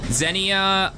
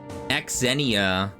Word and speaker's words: Xenia: Zenia o is pronounced as zenia is pronounced zenia.